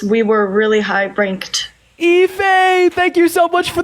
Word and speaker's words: Ife: That is IFE, pronounced Ife.